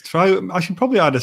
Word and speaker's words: Trow: Is it pronounced Trow? What's the? It's Trow.